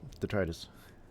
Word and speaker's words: detritus: Yeah, detritus.